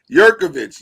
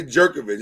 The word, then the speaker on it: Yurkovich: No, I always want to say Jerkovich. And I know it's not Jur in Ukrainian or whatever this language is.